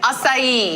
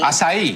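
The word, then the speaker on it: açaí: Acai. Acai.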